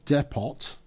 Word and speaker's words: depot: And with with that, we're going to then supplementary add a depot. It's French. Pronounce it properly.